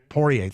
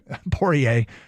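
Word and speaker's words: Poirier: poier porier por how do you say it porier thank you porier but the action doesn't stop there Deontay Wilder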